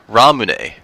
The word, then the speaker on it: Ramune: It's called Ramune, and it's a weird pronunciation of the drink that they were trying to sell, lemonade.